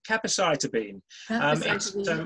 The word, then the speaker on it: capecitabine: It's capecitabine.